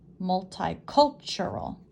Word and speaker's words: multicultural: thai cul sure all where's the emphasis multicultural multi cultural five syllables the stress or the emphasis is on the third syllable the meaning of this